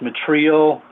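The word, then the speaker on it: μετρέω: All right, the word meet, as used in Matthew chapter 7, verse 2, is the Greek 3354, and it's pronounced metrio.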